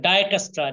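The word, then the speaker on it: Dijkstra: ডায়কাস্ট্রা এইটা ডায়াস্ট্রা ওকে এইটা কিন্তু উচ্চারণ ডিসকাস্ট্রা ডি আই জে যে টা কি থাকবে সাইলেন্ট যে টা কি থাকবে সাইলেন্ট থাকবে এটা ডাইকাস্ট্রা ডাইকাস্ট্রা ডাই স্ট্রা ওকে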